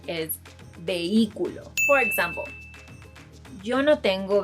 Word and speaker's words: vehículo: Another word is, if you're thinking of the pronunciation is vehículo, then I'm sorry to tell you, but you're wrong. The correct pronunciation is vehículo.